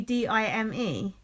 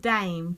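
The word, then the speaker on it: Daim: And do you know, and it used to be D-I-M-E. But it's been... D-I-M-E? Yeah. Now it's called Dame.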